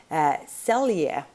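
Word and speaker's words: Selye: stress research was done by hans and i'm pronouncing that in swedish i believe it's a german name originally h-a-n-s hans celia is his last name last name s-e-l-y-e celia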